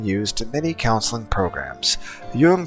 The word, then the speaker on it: Jung: Jung, pronounced young, sought to understand how different personality types interact with each other and ultimately how they affect society.